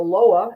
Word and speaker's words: Loa: He's a psychic reader, a medium, and serves the ancestors and the Loa. Again, am I pronouncing that correctly? Correct.